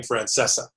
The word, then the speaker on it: Francesa: and I being at different coasts so he pronounces his last name Francesa so for the for our viewers and listeners